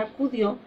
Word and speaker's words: acudió: nosotros nos damos cuenta la sílaba más fuerte de la palabra acudió es este es la sílaba donde está dio entonces esa se llamaría sílaba